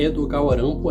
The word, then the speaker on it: Edogawa Rampo: Inclusive a pronúncia, né, Edogawa Rampo é a pronúncia japonesa de Edgar Allan Poe.